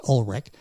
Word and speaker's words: Ulrich: U L R I C H pronounced Olrich.